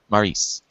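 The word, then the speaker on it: Maryse: The Miz, with his wife, what's her pronunciation? Maurice? Yep. Maurice.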